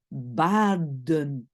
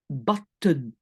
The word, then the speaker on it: baden: Mais donc, par exemple, bat, si je le prononce, je dis baden et pas batten.